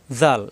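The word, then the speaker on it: ذال: তাহলে আমাদের কোরআনুল কারীম তেলাওয়াত করতে গিয়ে হরফের উচ্চারণে আর ভুল হবে না এই হরফটা জাল এইযে দেখুন দাল দালের উপর এক নক্তা আসছে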